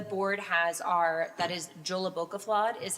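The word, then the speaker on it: Jólabókaflóð: The board has our that is Joolabokafla is how you say that.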